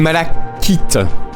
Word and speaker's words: malachite: Oh, une malachite. Le saviez-vous, ça se prononce malachite, en fait.